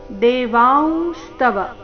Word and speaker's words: ದೇವಾಂಸ್ತವ: ಆಘಾತ ಮೇರಸ್ವ ಪಶ್ಯಾಮಿ ದೇವಾಂಸ್ತವ ದೇವಾಂಸ್ತವ ಅನುಸ್ವಾರದ ಉಚ್ಚಾರಣೆ ನಾಸಿಕ ಉರಿತಿ ದೇವಾಂಸ್ತವ ದೇವ ದೇಹೆ ದೇಹೆ